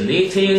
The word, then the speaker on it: knitting: They can do activities such as knitting. 쓸 줄 알아야 됩니다. K가 묵음이거든요.